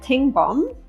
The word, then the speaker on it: Tengbom: You're the passionate sustainability director at Tengbom.